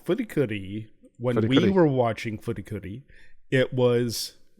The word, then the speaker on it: FLCL: And then it was like, because that's the Fulikuli, it's the Japanese pronunciation of Fulikuli. That's what it's technically called.